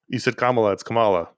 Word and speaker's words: Kamala: ruined my ability to say her name it's Kamala apologies I do the same thing I read